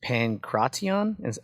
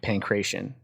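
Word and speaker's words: pankration: So we're talking about sports like wrestling, boxing, and then how they pronounce is pancration, but I've heard it pancration, which is MMA now.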